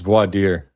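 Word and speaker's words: voir dire: How does the judge not know how to pronounce I don't even know how to pronounce that. Vader clown word it's vadier.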